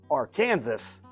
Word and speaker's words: Arkansas: I pronounced R Kansas the way it's supposed to be pronounced, R.